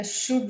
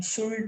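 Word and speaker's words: should: word use करते हैं तो इसमें एल साइलेंट होता है तो हम वुड को वुड नहीं पढ़ते हैं शुल्ड नहीं पढ़ते हैं कुड नहीं पढ़ते दैट मींस प्रोनंसिएशन आर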